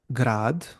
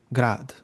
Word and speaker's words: grad: For example, we have a word uh, grad, Mm. which is a city, grad. But Yes. you also have a word grad, which is a short, and it means hail, like in hailstorm.